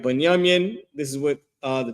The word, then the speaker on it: Benjamin: Uh, their name is Banyamian. Banyaminian. That's how you say their name in Hebrew. This is the Hebrew uh form for it. The second one right here, right? Banyamin.